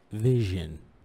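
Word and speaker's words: vision: إذا فيجن هي رؤية، قلنا S I O N تنطق جن. هل هي يعني كل ما تشوف أي تشوف الكلمة هذه تنطق جن؟ عادة جن.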